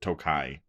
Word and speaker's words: Tokaji: is second place and number one was Penelope tokaji it's pronounced toai task finish what you do bastard what you